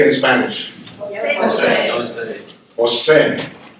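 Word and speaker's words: José: Jose. You see where the accent is? It's Jose, J, right?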